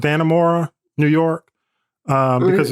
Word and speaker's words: Dannemora: I think it's pronounced Dannemora, New York, because it's right on.